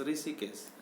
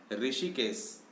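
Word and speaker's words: Hrishikesh: ऋषिकेश। ऋषिकेश का स्पेलिंग आप लोग देख लीजिए, ध्यान में रखिए, एच से स्टार्ट होता है, HRI, और एच साइलेंट है।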